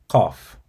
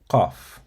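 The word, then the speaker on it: ق: near the uvula, and then you tighten your throat slightly to create a constricted sound. And then you release the sound with a crisp, strong burst, similar to K, but pronounced much deeper in the throat.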